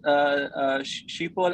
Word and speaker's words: Schiphol: Is that Schiphol Airport in the background? Yes, it is. Yeah. one Is of there? our infrastructure hubs. Okay, okay. And the pronunciation is Schiphol.